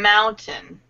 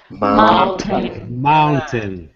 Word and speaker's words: mountain: It's almost like the A-I is sort of silent.